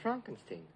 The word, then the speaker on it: Frankenstein: putting me on yeah it's pronounced Frankenstein do you also say